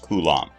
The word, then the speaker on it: coulomb: measure called a coulomb it's pronounced coulomb the abbreviation for a